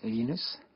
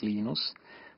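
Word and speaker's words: Linus: I speak Swedish it's lenus when I speak Finnish it's lenos when I speak English it's lonus and I really don't care how people pronounce my name but Linux is always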